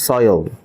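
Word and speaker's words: soil: এই এই শব্দের উচ্চারণটা, এর উচ্চারণ হচ্ছে সয়েল। সয়েল না, বলুন সয়েল।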